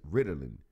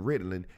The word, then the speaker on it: Ritalin: Ritalin. It sounds like the word riddles, Ritalin.